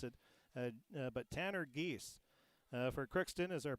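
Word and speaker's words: Giese: and i'm going to give it to tanner geese that's uh g-i-e-s-e but you can spell it however you want just to pronounce it uh but tanner geese uh for crookston is our pirate rbjs pirate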